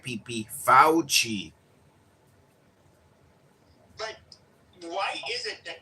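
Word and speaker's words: Fauci: His name is pronounced Fouchi. Fouchi. Get it right pe Fouchi.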